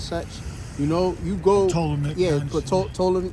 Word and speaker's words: Ptolemy: Ptolemy. Yeah, but Ptolemy, it's like Ptolemy. That's niggas say pronounce the P.